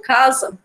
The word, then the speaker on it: casa: Quando eu digo casa, o CA, né, ele soa mais forte do que o SA.